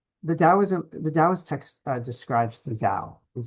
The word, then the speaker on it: Tao: The Taoist text describes the Tao. It says the great Tao flows everywhere. Don't get confused by the T and the D. We pronounce it as a D, but it's been written both ways historically.